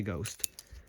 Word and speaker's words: G10ST: like the Jerry Hom Ghost, or people call it the Ghost, but if you actually look at how it's spelled, it is G10ST, which doesn't spell ghost, but people just call it that.